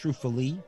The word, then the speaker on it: struffoli: called, we call them struffola. You call it struffola, Nick? Yes. Okay, I think it can be pronounced struffoli as well. Okay. Like almost like cannoli and canola, but whatever.